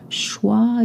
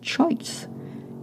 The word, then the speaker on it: choix: Choix is spelled C-H-O-I-X. It's not choice. It's choix.